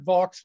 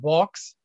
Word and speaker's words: Vaux: you it is pronounced box uh vo would be the french pronunciation he was not french he was british um these the calvert box preservation alliance or more